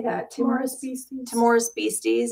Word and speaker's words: Timorous Beasties: Timorous Beasties.